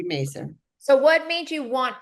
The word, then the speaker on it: Mazar: that's Debbie and how do you pronounce her last name? Mazar? Mazer. Mazar. Mazer. So Debbie Mazer.